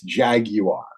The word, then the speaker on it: Jaguar: the rebranding is finally teaching us poor bited Yanks how to pronounce it properly it's Jaguar um the problem is